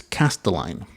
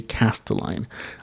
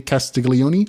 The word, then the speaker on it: Castelline: It is Castelline. R.J. Castelline. I say Castiglione all the time because I'm Hispanic and I pronounce all the letters, but it is Castelline.